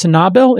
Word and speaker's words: Sanabil: It's pronounced Sanabil, if I am pronouncing it correctly, S-A-N-A-B-I-L, investments.